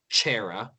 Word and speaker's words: Ciara: It's an Irish name, so it's Ciara. But it's pronounced Chera.